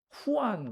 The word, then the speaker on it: Juan: 그리고 또 이제 다른 이름으로 그 스페인어 쪽에서는 제일 많은 이름이 후안 그래 후안 혹은 후황 이렇게 나오기도 하고 폴트 쪽으로 가면 그게 저 아니에요. 또 영어로 스펠링은 비슷해. Juan이고 그쪽 발음 때문에 후환이라고 이러요.